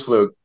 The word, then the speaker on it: Pflug: part of that is because my hesitancy with pronunciation would you please do that for me sir my name is fluke there goes thank you and for the viewers